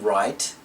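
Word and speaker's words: write: When the letters are together in a word, the W is silent as in right and wrong.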